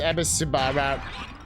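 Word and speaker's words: Ebisumaru: It's pronounced Ebisubara.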